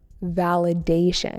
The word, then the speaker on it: validation: Validation with an emphasis on the third syllable.